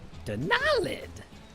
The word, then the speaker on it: Denalid: So, because I pronounce it Denalid with the emphasis on that second syllable, I capitalize the second syllable or put an accent mark or something.